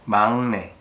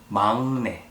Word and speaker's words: 막내: Even though the first letter has 기역 on the bottom part, it should sound like 응. So it's 막내, not 막내.